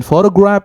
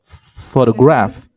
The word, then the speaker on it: photograph: first syllable and photo and then photograph it's stress in the second syllable photograph or even if we